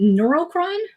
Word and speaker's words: Neurocron: So, if you guys don't know, I'm here with the team from, is it Neurocron? I just pronounced it.